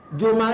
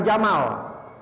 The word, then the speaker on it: jumal: Jumal itu jamak dari Jumal itu jamak dari apa? Jumlah. Jumal bacanya jumal ya, bukan jamal.